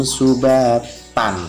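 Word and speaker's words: سباتا: Ini adalah mat iwad, bacanya bukan tan tapi dibaca fathah, panjangkan 2 harokat, yaitu bacanya waja'alna naumakum subata. Nah, tidak boleh tan karena fathah tanwin ini sudah dibaca mat iwad.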